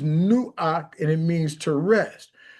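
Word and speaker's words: נֹחַ: Noah's name, pronounced correctly, is Nuach, and it means to rest.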